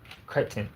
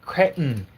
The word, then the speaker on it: Cretton: Is it Destin Daniel Craig or Daniel Destin Craig? Cretton. Cretton. Cretton.